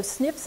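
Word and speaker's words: SNP: companies look for our single nucleotide polymorphisms pronounced snip another variation that they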